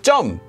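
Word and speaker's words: 점: and that is Tom note this is actually pronounced as jum and you would say it at the same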